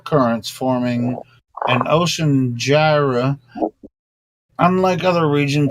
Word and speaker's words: gyre: The 4 together forming a clockwise circulating system of ocean currents termed by North Atlantic gyre. I'm just pronouncing it that way. It's Gyre.